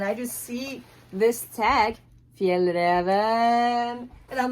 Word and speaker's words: Fjällräven: How do you pronounce it? It's called Fjällräven.